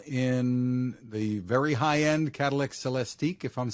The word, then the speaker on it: Celestiq: to be available in the very highend cadal celesti if I'm saying that right yeah you said